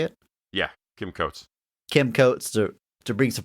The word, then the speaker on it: Kim Coates: Yeah, Kim Coates.